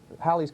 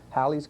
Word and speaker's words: Halley: Now, you may have thought of Halley's Comet, you thought it might be pronounced Halley's Comet.